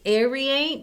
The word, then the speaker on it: aerate: you say that word I would say aerate because it's part of air but you're basically putting